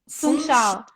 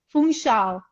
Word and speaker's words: Funchal: Funchal. Funchal. Funchal. Yes. Okay. And so she hiked all the way up to Monte, which is a hill on top of Funchal.